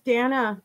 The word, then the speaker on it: Dana: Your name rhymes with banana. It's Dana.